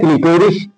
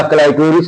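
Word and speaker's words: clitoris: का, जिसका नाम है क्लिटोरिस या क्लाइटोरिस है, यू लाइक। स्पेलिंग आपकी सही होनी चाहिए, प्रोनाउंसिएशन क्लाइटोरिस भी कर सकते हैं, क्लिटोरिस भी कर सकते हैं।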